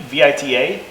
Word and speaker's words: Vita: It's called their Vita Cube, V-I-T-A. Yeah, Pronounce it Vita.